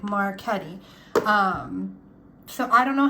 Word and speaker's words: Marchetti: by Mr chiro marketti I know some people will be like it's marchetti so in Italian because I hear a lot of people say marchetti so in Italian um the c-h-e we pronounce caddy like Marquette um so I don't